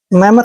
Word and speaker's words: mammoth: Double M का उच्चारण मैं करेंगे और ओ टी एच का उच्चारण यहाँ पर थ करेंगे। मैं मत, ऐसे मैं मत। मैमथ का मतलब होता है दोस्तों विशाल या फिर बड़ा, ठीक है।